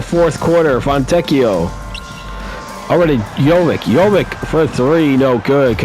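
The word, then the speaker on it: Jović: Powell is it over to Jovic. Jovic will put the shot up that's in there. I guess it's Yoic. So I keep So I was wrong on both pronunciations.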